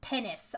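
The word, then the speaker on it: pinnace: of ship that is how do you say what p p-i-n-n-a-c-e it's pennis i know but i had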